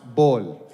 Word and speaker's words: Paul: Also, there's no P in Arabic. So my name is pronounced Bol.